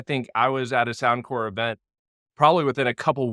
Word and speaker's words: SoundCorps: let's go ahead and get this right it's pronounced sound core like aeric core Marine core um Peace core sound C RPS sound core and not to just come out the gate